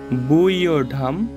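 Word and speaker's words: ব্যূঢাম্: বুইয়ঢাম, আমরা জানি অন্তর্জ থাকলে ইয় হয়, আর এটার উচ্চারণ আমরা বাংলা বর্ণমালায় ঢয় শূন্য র করলে এটার উচ্চারণটা হবে মূলত সংস্কৃততে ঢয়ের মতোই হবে। তো উচ্চারণটা হবে বুইয়ঢাম দ্রুপদ পুত্রেণ তব শিষ্যেন ধীমতা।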